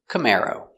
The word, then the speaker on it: Camaro: Camaro. C. C-C m come air cam cam camar o camaro camaro stress on the second syllable.